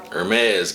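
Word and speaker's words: Hermès: the house of Hermes is pronounced Hermes guys Mossy aromatic Woody spicy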